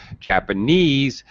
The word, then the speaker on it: Japanese: know this is true japanese has primary stress on the final suffix long e suffixes gets get stress 17 volunteer um entree okay the stress is in the last syllable just japanese by itself